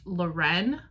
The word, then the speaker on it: Lauren: So it follows this girl Lauren, which I know if you've read this, it does say that her name is pronounced Loren, and I just can't make my brain say that.